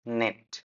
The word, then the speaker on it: knit: Even though you got that K, it's knit, right? It's more like knife. This word, yeah, right. So you all use this, this word, but you won't say knife. The K is silent.